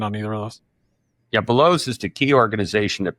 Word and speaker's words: Veloz: You can pick which one you want to talk about, but I noticed Velos, or VELOZ, and I know they pronounce it Velos.